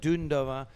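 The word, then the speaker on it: Dundová: four paddlers dunda dunova she told me to to pronounce her name correctly not dunda but dundov from the Czech Republic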